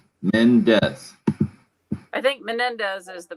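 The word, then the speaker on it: Mendes: that he said eva menendez is married to ryan gosling just two syllables men death i think menendez is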